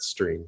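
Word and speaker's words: Striim: It actually is pronounced stream as you heard me say it.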